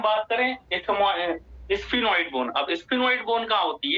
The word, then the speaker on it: sphenoid: एक बोन तो है हमारी जिसे हम बोलेंगे स्फिनॉइड बोन।